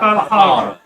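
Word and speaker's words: Falharrah: Phonetically spelled. Valhalla.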